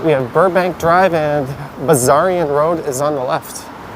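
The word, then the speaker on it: Bessarion: have burbank drive and buzzarian road is on the left i learned that you pronounce the s like a z the zaryan that's the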